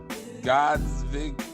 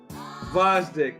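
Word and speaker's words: Gvozdyk: Like, to me right now, you got Kovalev, Bitter Beef, Godsdick, Vosdick, man. Vosdick. Why the fuck he got it? Is a G in there? Yeah, man, the G is silent, just like Sanford and Son, bruh.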